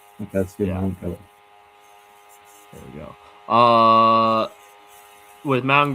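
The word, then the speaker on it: Mauigoa: We're gonna go my what's the proper pronunciation? Mangoa. Okay, that's good. Yeah. Mangoa.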